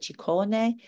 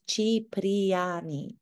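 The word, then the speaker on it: Cipriani: called chiani it's not ciani it's not choni it's chiani it's pronounced as it's read chiani is one of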